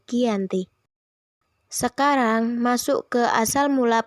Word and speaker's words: Giyanti: Mengapa Giyanti? Mengapa tidak Janti? Karena dalam pelafalan Belanda dan tulisan tertulis serta terbaca sebagai Giyanti.